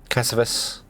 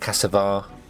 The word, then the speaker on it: cassava: We're getting fermented cassavas, not cassavar. I'm pronouncing that wrong every time.